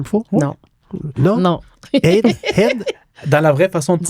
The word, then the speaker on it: Haïd: Élie Haïd. J'ai-tu dit comme il faut? Non. Non? Non. Haïd? Dans la vraie façon de Dis-lui.